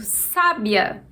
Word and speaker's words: sábia: A sílaba tônica é a sílaba que está com acento, sa.